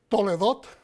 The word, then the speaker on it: Toldot: Esta porción es Toldot. Toledot, a veces se pronuncia.